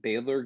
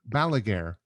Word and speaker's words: Balaguer: you familiar with them baylor i think maybe i'm saying it wrong alligator is that it they have a lot of that like offset guitars and yeah yeah balaguer okay that's it um yeah they're um